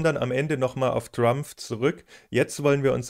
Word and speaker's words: Drumpf: bzw. deutsch ausgesprochen "Drumpf". Und das klingt in amerikanischen Ohren natürlich witzig, vor allem natürlich das /pf/ am Ende.